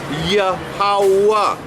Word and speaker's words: Yahawah: So Yahawah, although it's spelled Yahawah with a H at the end, it's pronounced Yahawah.